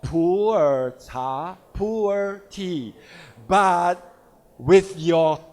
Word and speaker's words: Pu'er: In typical Chinese pronunciation, Mandarin pronunciation, it's called Pu'er cha, Pu'er tea. But with your typical intonation, it may become a poor tea.